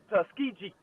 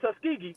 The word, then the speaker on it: Tuskegee: week miles defeated tus tuskiji not Tuskegee tusk G so that that irks me when they mispronounce our school things uh folks it's all corn it's all Banning and it's tusky G not tusky g anyway the the fact